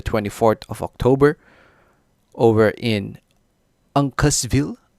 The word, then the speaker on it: Uncasville: of october over in uncasville am i pronouncing that right uncasteville at the mohigan san